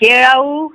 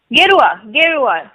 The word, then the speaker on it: Gerua: I believe we are playing Gerau from Dilwale. Did I say it right, Shrit? Gerua from Dilwale. I got it right this time.